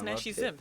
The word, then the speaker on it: Nashie Zim: it's Nashie Zim.